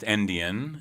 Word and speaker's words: NDN: It's NDN, but pronounced Endian, right?